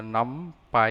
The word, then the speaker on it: NumPy: for numerical python the pronunciation is numeric uh num Pi you can pronounce it as numpy or some people also